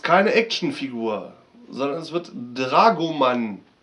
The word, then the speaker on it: Dragoman: Dragoman ist keine Actionfigur, sondern es wird Dragoman ausgesprochen und bezeichnet im Nahen Osten den Beruf des Dolmetschers.